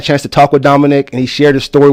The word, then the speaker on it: Dominik: And so hand the microphone back over there to Dominik, and you've got to put that right on you, brother. Okay. So in introduction, this is Dominique. How do you say your name?